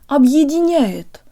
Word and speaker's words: объединяет: guys, today you'll learn how to pronounce the word Объединяет, or unites.